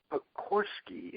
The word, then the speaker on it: Pogorski: Kit Pogorski. Am I pronouncing that correctly, Kit?